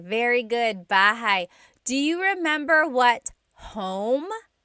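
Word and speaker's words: bahay: Da says bahigh. Very good. Bahai.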